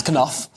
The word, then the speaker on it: Knauf: updates Jason knoff um is that how you pronounce it Canal that's that's Koff hey well he spoke to the Australian Network